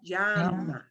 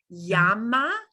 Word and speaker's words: llama: When I pronounce it, it is going to sound more like a little J in front of the Y.